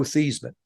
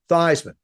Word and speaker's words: Theismann: Yeah, as a matter of fact, I grew up in South River, New Jersey, and I was always Joe Theismann.